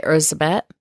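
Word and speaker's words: Erzsébet: it just pronunciation yeah Elizabeth is the more westernized version but she probably you know went by ursabet yeah so there's and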